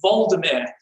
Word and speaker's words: Volodymyr: If you were Ukrainian, you would say he was Volodymyr the Great.